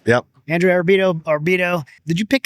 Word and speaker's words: Arrabito: So we got Andrew Arrabito. Did I say it right? Yep. Andrew Arrabito, or Bito.